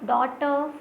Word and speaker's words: daughter: Next is neighbor, daughter, fight, straight. So neighbor, daughter, fight, straight. What is silent in neighbor? So you will see GH is silent. Neighbor, GH is silent. Daughter, GH is silent.